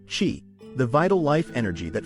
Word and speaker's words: qi: Tai Chi emphasizes the cultivation and flow of qi, pronounced qi, the vital life energy that flows through the body.